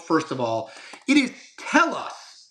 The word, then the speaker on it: Telos: Um, but I want to promote first of all it is tell us. Is that how we're pronouncing it? Yeah. Yeah. Yeah. Tell us. Te loos uh news. It's Ryan Substack, not Telos, but yeah.